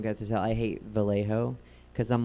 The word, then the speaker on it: Vallejo: to tell i hate vallejo because i'm like you can't be vallejo like you you can't be half correctly pronounced in spanish and like half not have not like either vallejo or valley joe but like what's this